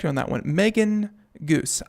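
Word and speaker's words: Geuss: on that one Megan goose I'm betting it's couscous but with a G so making news I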